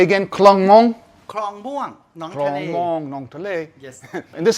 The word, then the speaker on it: คลองม่วง: คลองม่วงหนองทะเล Klong Mong, Nong Tale.